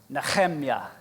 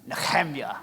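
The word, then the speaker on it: נחמיה: Nehemiah's name in the Hebrew is pronounced Nechemya. And I don't say that to show off. I say it because it's fun to say. Nechemya, all right?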